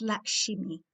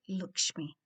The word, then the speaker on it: Lakshmi: And well, I'm going to spell it properly because it's Lakshmi when I write it, but I know it's always said like Lakshmi.